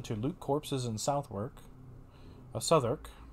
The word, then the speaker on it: Southwark: Southwark. I keep forgetting the W is silent.